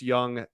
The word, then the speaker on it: Jung: number two we have jace jung uh jace young jace jung well however you pronounce it it's jace young as far as i've been told so and i'm pretty